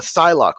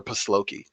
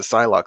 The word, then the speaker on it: Psylocke: was a kid uh psylocke from the x-men i used to call her pasloki i don't know why